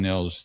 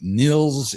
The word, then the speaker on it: Nils: knowing where to put the hospe, let alone pronounce it. Niels is book. Is that how to say it? Or Nils?